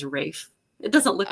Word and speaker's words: Ralph: years before I learned that Ralph Von Williams famous composer is Rafe it doesn't look like